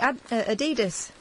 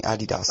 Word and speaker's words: Adidas: European way, Adidas. Adidas. What? Adidas. The American way, Adidas.